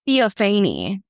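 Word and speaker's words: Theophanie: Theophany. It's like Stephanie.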